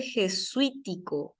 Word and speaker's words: jesuítico: ¿Por qué lleva tilde jesuítico? Jesuítico, porque es esdrújula. Acá se carga la voz.